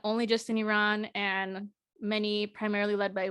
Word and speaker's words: Iran: what is happening in Iran I used to say Iran but I think the correct pronunciation is Iran so there's been a